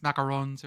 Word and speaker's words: macaron: me that sells uh macarons macarons you pronounce it the little squishy colored ones not the coconut ones and they have little